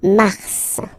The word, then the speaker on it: mars: So in a way it's an exception because normally final S is not pronounced in French, okay? We've got some exceptions and this one is one of them. So mars, pronounce the final S, mars, okay?